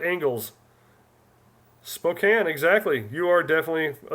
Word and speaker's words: Spokane: Spokane or Spokane? What is the correct pronunciation? Cane or can? Illinois. Illinois. Los right angles. Spokane, exactly.